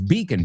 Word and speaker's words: beacon: Speaking of beacon, no es bacon, it's beacon. B-E-A, beacon se escribe.